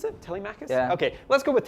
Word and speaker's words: Telemachus: other thing is Telemachus is that are you pronounce it Telemachus yeah okay let's go with Telemachus this is for your web developers in the